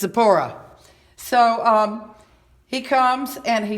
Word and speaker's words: Zipporah: good old Charlton Heston Charlton Heston says zephyra that's how he pronounces her name zephyra that's not her name it's sapore so he comes and